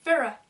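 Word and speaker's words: Feyre: Donc en français, tout le monde aurait tendance à dire faire, faire, un truc comme ça. Et en fait ça se dit Farah.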